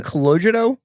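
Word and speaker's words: Calogero: And they were like, hey, Are you saying Cologito? Cologito, that's how you pronounce it. With even though it's ERO?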